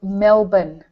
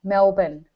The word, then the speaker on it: Melbourne: and American and so the way that you need to say that is Melbourne Melbourne yeah I have to you have to say it like it's got an i n on the end Melbourne Melbourne that's it Mel